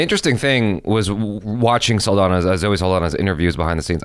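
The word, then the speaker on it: Saldaña: And the interesting thing was watching Zoe Saldana's interviews behind the scenes. I'm saying her name wrong, I'm sure. Yeah, I just learned that it's Saldana.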